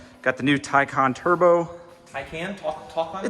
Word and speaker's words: Taycan: Taycan? Talk on it? It's Taycan. Taycan. I know, I hate it. It's spelled Taycan, but that's like a very Midwestern way of saying it.